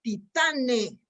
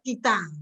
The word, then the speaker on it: Titane: Y leo los términos con que se celebra la película de la directora premiada, creo que se llama Titane, debe tener la pronunciación francesa, Titán, ¿no?